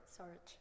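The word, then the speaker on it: Šarić: Is it Saric or Saric? Saric. Saric? Yes. And is that because of the little accent? It is. Yes. So if I forgot the accent, would it be Saric?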